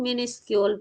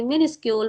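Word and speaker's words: minuscule: that is a vary मेनी स्कूल places यारम आई यूज to pronounce मिनी स्कल at what time before this session okay मिनी स्कूल मिनी स्कल नहीं होगा otherwise everyone will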